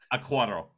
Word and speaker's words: Acquaro: DiCicco, Emilio DiCicco, and Acquaro, am I pronouncing her name properly? Acquaro, thank you.